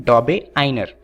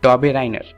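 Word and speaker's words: Döbereiner: wolf Kong डोबे आइर दरअसल ये यूके की प्रोनाउंस है दरअसल ये जो साइंटिस्ट हैं वो जर्मनी के हैं और इनके नाम में बहुत दिक्कत होती है तो यूके वाले इसे प्रोनाउंस करते हैं डोबे आइर वहीं पर जो इंडियंस हैं वो इन्हें प्रोनाउंस करते हैं डोबे राइनर तो आप दोनों में से किसी का भी इस्तेमाल कर सकते हैं परंतु कोशिश कीजिएगा कि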